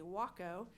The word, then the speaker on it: Waco: That is a Waco and that is how you say it or they will correct you.